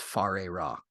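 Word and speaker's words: Whare Ra: Adept uh it looked it's written like where Rob I believe it's pronounced far a rock and they did a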